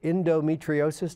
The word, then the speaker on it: endometriosis: years ago it did not done no indro endometriosis did i pronounce that correctly yes can you can you